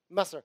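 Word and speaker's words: مصر: In fact, in Arabic, how do you pronounce Egypt in Arabic? Masr.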